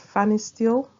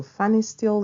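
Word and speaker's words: Pfannenstiel: transverse incision is the fanning steel so it's called fanny steel the p is silent so fan is still incision although you can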